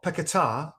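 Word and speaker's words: Paquetá: deadline deal but lucas paqueta or piccatar i think is actually the um the correct pronunciation but i'm sure it's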